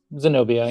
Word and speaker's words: Zenobia: So my favorite character is Zenobia. That's how you say her name? And Zenobia? yep, Zenobia.